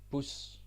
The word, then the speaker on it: bus: Bus. Bus. Right? Same spelling, different pronunciation.